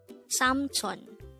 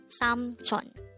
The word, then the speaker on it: 삼촌: Samchon. Samchon. This is pronounced as a two-syllable word. The first syllable is sam, the second syllable is chon. Pronounce it with me. Samchon.